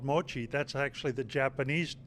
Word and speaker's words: mochi: the what you called Mochi that's actually the Japanese name in Taiwanese they call it Moji and uh in Japanese it's Mochi so it's the it's